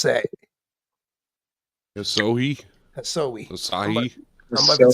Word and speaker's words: Asahi: Yeah, be He's like, so high is how it's pronounced.